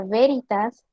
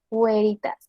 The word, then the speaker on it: veritas: yo si no leo como en castellano sería veritas y debe de ser güeritas en la pronunciación clásica significa la verdad las